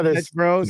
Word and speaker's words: Dutch Bros: Dutch Bros.